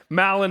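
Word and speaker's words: Mahlon: decision about who's right Malin and chillian is the right way to say it but it's whatever so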